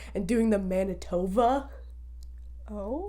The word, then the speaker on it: Manitoba: sound and doing the Manitoba. Oh, like they didn't know what the word is. No, so people who aren't from Canada, they pronounce it Manitoba because that's what it sounds like in the thing.